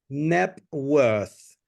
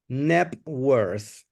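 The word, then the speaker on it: Knebworth: okay n yes okay remember the pration is NEP worth NEP worth Networth house okay let's continue with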